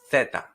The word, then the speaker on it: zeta: And the last one is called zeta, zeta, which in Spain is going to be pronounced such as theta, theta, with your tongue sticking out.